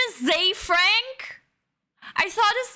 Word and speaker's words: Ze Frank: I always said his name wrong. I'm a fan. Zay Frank.